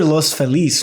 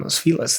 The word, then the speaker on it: Los Feliz: I hear Los Feliz more than Los Feliz these days.